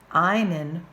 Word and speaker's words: einen: If I want to say he's wearing my belt, einen rhymes with meinen.